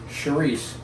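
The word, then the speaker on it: chouriço: slightly different c-h-o-r and in portuguese they they don't pronounce the last oh and they have a very soft ch so it's cherise in portuguese but it's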